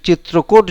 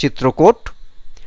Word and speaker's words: Chitrakote: এই চিত্রকোট জলপ্রপাত। ইংরেজি অক্ষরে যেটা লেখা আছে সেটার উচ্চারণ হয় চিত্রকোট। নয়তো এটাকে বলে চিত্রকুট।